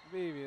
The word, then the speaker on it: Beebe: Beebe, that's how we pronounce it.